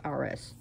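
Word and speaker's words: Ares: rs a-r-e-s which is people like to pronounce aries but it's rs and one day they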